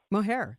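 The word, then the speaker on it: Mohajir: Mohair? Mohair.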